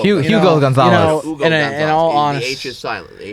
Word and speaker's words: Hugo: His name's Hugo. Hugo Gonzalez. Hugo in Gonzalez. all The honest- H is silent. The H is silent.